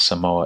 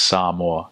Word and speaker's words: Samoa: And my uncles and dads are like, it's not Samoa, it's Samoa.